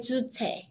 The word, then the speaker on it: Juche: Like Juche.